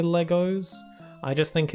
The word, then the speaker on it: Lego: Like how some people pronounce like plural of Lego Legos, even though I'm pretty positive that it's Lego. When referring to multiple Lego, it's just Lego. But some people say Legos, and I'm not like